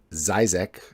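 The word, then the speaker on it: Žižek: And a recent article by the Slovenian philosopher, a prominent Slovenian philosopher, I believe his name is pronounced Zizek.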